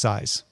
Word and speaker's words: SZ: oh here it is SZ is pronounced size whoos by size oh